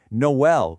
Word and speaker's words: Noël: Similarly, Noël would completely lose its distinct two-beat rhythm without those dots over the e.